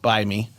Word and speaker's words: Bite Me: It's spelled Bite Me, but the T is silent, and you're supposed to know that it's either it's a fake spelled Bite Me, yeah, but the T is silent, so it's B-I-E.